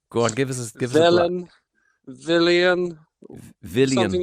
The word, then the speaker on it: Welén: I look at it, looks like an Irish name, Whelan, but that's not how you pronounce it, is it? No, not quite.